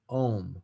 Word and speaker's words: ogham: earlier the it says it's spelled ogham but it's pronounced om okay so these are